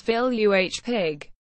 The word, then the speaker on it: Villepigue: War one Medal of Honor recipient John Canty Villa Piguet early career Villa Piguet pronounced Phil you H pig was born in Camden Kershaw County South Carolina